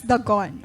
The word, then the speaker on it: Dagon: Dagon, other pronounce it also as Dagon. What's the proper? It's Dagon.